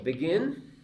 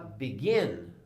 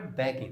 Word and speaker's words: begin: Então, vou falar begin, não falar begin, vou falar begin. A sílaba tônica, ou seja, sílaba tônica, sílaba mais forte, é a última.